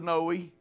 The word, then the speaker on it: Noe: as it was in the days of knowie noe is the way it's spelled in the new testament several